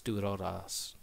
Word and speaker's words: Durarara: And Durarara comes from the main gang, the Dollars, or if you pronounce it in Japanese, Duraras.